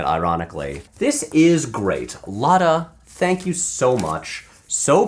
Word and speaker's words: Lotta: If you're wondering how to pronounce my name, just channel your inner Italian and say the name Carlotta, but leave out the first part. Lotta.